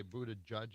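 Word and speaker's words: Buttigieg: no let's go to how do you say Buddha judge is that how you say yeah Buddha judge yeah just Buddha judge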